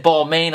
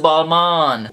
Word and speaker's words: Balmain: hold up I know I just said ball main I know a lot of people are probably freaking out right now because they're like ready to comment and say oh no it's pronounced Balman well to be completely